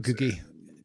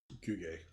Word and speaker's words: Guge: Guge. Not Googie.